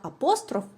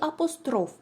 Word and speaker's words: апостроф: як звернений на бік одразу визначимося як ми будемо наголошувати слово апостроф Річ у тім що це слово має подвійний наголос за сучасними орфоепічними нормами правильно його вимова буде як апостроф так і апостроф Чому так сталося очевидно